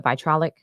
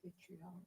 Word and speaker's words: vitriolic: Um, she says, "This case arises from perhaps the most infamous rap battle in the genre's history, the vitrolic. Did I say it right? Vitriolic."